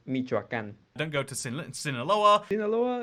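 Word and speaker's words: Michoacán: Don't go to Michoacan. Okay, so I can't. That's sadly gonna have to be a -1 out of 10. It's actually pronounced Michoacan.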